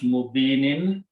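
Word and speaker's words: مبين: So it becomes mubinin. Mubinin. So the word will be fi imamin mubinin. When you stop, you pronounce mubin.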